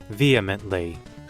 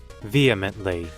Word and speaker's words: vehemently: to second guess everything vehemently no that's not how you say it really vehemently vehemently like vehicle really vehemently Ah that's not